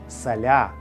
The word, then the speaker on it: Саля: будинку з химерами Але у Києві щоб уникнути схожості зі словом сало прізвище стали писати саля з обов'язковим наголосом на другий склад саме саля займався оздобленням